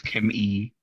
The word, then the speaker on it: Kim E: You didn't pronounce it right. It's Kim E.